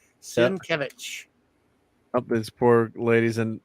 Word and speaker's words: Sienkiewicz: Because people always say Bill Sienkiewicz. But I thought that too until I saw somebody pronounce it. Sienkiewicz.